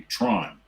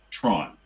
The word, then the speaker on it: Theron: in the day called Tron, which for an American audience would be Tron. Right. And that's fine. That's much closer. That's fine. She should have just said to them, "You pronounce my name Charlize Tron."